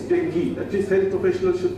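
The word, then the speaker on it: dengue: important Malia the other is Deni we don't pronounce it ASU anymore it's Deni at least health professional should get the professional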